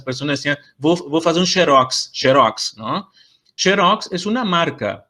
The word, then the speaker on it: Xerox: Y la otra es que la marca es Xerox, no es Xerox. Entonces no es cualquier X que yo puedo pronunciar como J.